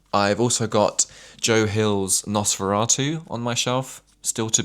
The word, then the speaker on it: Nosferatu: I think I was genuinely running around calling it N042R2 or something. I was getting the numbers completely wrong. And then my partner pointed out to me like, "You do realize it's pronounced Nosferatu." And I was like, "Okay,